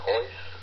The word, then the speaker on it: Royce: And, you know why they pronounce it Royce Hoyce? What's that? They're Portuguese, and they have a different way of pronouncing certain letters. They don't speak Spanish, they speak Portuguese. In the country they're from, in South America, instead of Spanish, they speak Portuguese. Uh-huh. So that's why they pronounce ours like H's.